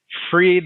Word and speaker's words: Fried: How do you pronounce it? Freed, like liberated.